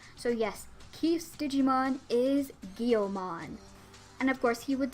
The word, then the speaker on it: Guilmon: editing this video, and I remember how to pronounce the Digimon's name. It's Guilmon. Why did I forget that's how you pronounce his frickin' name? So yes, Keith's Digimon is Guilmon.